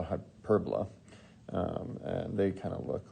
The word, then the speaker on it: hyperbola: called a i mean literally it's spelled like hyperbola but it's um it's called a hyperbola and they kind of